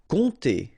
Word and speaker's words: compter: Compter. All right, so OM, really like a nasal here. On, and then this P is not pronounced.